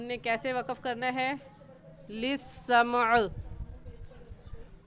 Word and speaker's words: للسمع: کیسے وقف کرنا ہے۔ للسمع، مقاعد للسمع، میم کو بھی ساکن پڑھیں گے اور عین کو بھی للسمعی، ایسے وقف نہیں کریں گے۔ وَأَنَّا كُنَّا